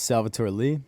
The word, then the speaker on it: Salvatore Lee: home what's your name uh my name is Salvatore Lee there you go salvator Lee salvator sell for